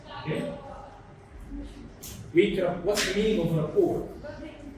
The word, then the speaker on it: rapport: What's the meaning of rapport? It's not rapport. It's not rapport. The Z is silent. It's rapport. It's a French word.